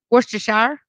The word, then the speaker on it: Worcestershire: at all you know in England where that comes from that's not how they say it how do they say it Worcester whoo Worcester Worcester yep Worcestershire they don't say what's the shire they say Worcester really okay I didn't